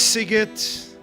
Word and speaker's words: Szeged: Some of you know it as Sigit, but you know how it's spelled? S-Z, right? E-G-E-D, I believe. Emes? So those who don't know Sigit, Nebach, pronounce it in other ways.